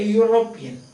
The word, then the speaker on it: European: Although it is vowel letter, the pronunciation is ya, you. A euro. Listen, a European. A union. So that is ya, not euro.